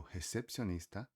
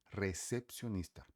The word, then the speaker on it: recepcionista: E o recepcionista, repara que eu falei recepcionista, porque toda palavra em espanhol que comece com R precisa ser forte e vibrante. Então você fala recepcionista, recepcionist.